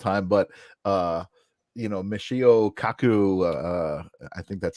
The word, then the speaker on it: Michio Kaku: down all the time but uh you know Michio Kaku uh I think that's how you pronounce his name correct yes you know he